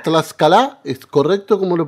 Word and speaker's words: Tlaxcala: ¿Tlaxcala? ¿Es correcto como lo pronuncio? Es Tlaxcala. Tlaxcala.